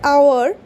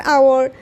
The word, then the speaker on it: hour: the examples now in case of these an hour an honorable person or an honorary post in